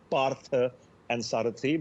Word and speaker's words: Parthasarathi: It's Parthasarathi, but more often than not, people, when trying to pronounce my surname, sort of end up being breathless for the wrongest reasons.